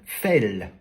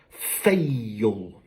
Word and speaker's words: fail: Donc ce mot-ci, si je prononce à la française, ça me donne fell. Donc il monque la divong. Sauf que fell, c'est le passé de fall. Donc pour bien prononcer ce mot-là, je suis obligé encore une fois de rajouter la divong, donc fail. Donc toujours cette deuxième syllabe qui arrive.